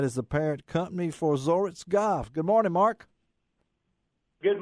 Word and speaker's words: Zoritz: That is the parent company for Zoritz Golf.